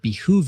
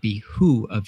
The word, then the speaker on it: behoove: Recruits that it would behoove you to listen closely, Behoove. which is also frequently mispronounced or typed in written orders as it would be who of you.